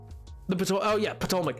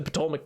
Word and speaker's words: Ptolemaic: the Ptolemaic period, but I've always heard it with the P pronounced, so I don't know. I think the P silent. It very well could be. It very well could be. Worst word if it is. I like using the P.